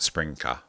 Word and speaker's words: SprinKah: have with us today is our special guest spring car that is correct isn't it that's how you pronounce it yes yeah cool there we go